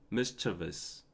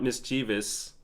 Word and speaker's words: mischievous: c h i but you just pronounced the chi faster like mischievous whereas I was pronouncing it as mischievous oh okay okay okay okay okay okay H okay so it's it's not mischievous it's mischievous mischievous but